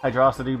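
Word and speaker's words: Hydrocity: the developer said it's I think the developer says it is a hydro hydrosity but I just I it's Hydro City man it's underground city electronic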